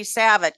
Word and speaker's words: Savit: Eli Nathans, Ellie Savit, it's Ellie Savit, is how you pronounce Ellie.